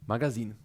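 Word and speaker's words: магазин: na wszelki wypadek powiem Magazine tak to właśnie robimy zwróćcie uwagę na Akcent który pada na koniec tego słowa na ostatnio samogłoskę A z kolei Marcin wysłał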